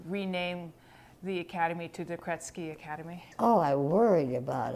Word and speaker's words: Krejci: these kids phonics, and the J is pronounced like a T. That's how my in-laws did it. So I kept thinking like, oh, and I've been called Krejci, all kinds of things.